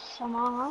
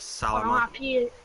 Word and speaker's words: Salama: Yes, Joshua Arnold bottom half again, quite frankly, but Alex Samara, I think it's pronounced the name. Eric Salama. Salama, excuse me.